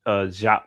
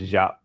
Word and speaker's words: Diop: Cheikh Anta Diop. Let me tell you how bad this is. It's It's pronounced Diop. One of my friends is Senegalese. Um it's pronounced Diop.